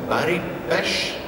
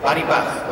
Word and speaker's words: Baribach: You have sung in a group, in a band, and I hope I pronounce it right, called Baribash? Bach. Baribach, okay. You were quite near.